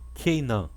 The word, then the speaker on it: Keinã: Quarta palavra, Cainã, que em hebraico é Keinã. Keinã significa desgraça, penalidade, aflição.